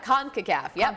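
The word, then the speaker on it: CONCACAF: first first round of the series of the conaf Champions Cup did I say it right you got it conaf all right so that is an International Tournament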